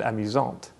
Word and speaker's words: amusant: happens with amusant and amusante. This means that the masculine version is pronounced amusant with a silent T, and the feminine version is pronounced amusante with the T pronounced clearly.